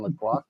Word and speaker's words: La Croix: for the flavors in La Croix. Is that how you pronounce that? Yes.